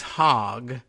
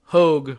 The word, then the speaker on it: Hogg: And is it Hogue? Because people keep tweeting things that make it look like they think the pronunciation is Hogg, and that's hilarious. And I don't know, maybe he actually pronounces it that way. We had, my college, we had a H-O-G-G Hall, Hogue Hall. So I'm going with that pronunciation.